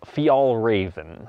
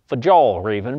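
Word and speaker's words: Fjällräven: it's from a Swedish company called fial raven okay it's going to look like fajal or even but please don't say it like a freaking redneck right so if you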